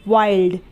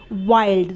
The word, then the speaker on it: wild: उसी तरीके से वाइल्ड, WILD वाइल्ड, तो वाइल्ड में भी आई है और आई